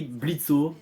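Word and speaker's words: Blitzø: tout d'abord nous avons Blitz alors ça s'écrit blitzo mais ça se prononce Blitz le ha et muet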